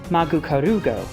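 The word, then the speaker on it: マグカルゴ: Its Japanese name is Magukarugo, which is a combination of magma, pronounced as Maguma in Japanese, and escargot, which means snail in French.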